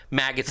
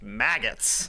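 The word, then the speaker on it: Maggotts: Maggots and Beckett's gets bonus points for its good name.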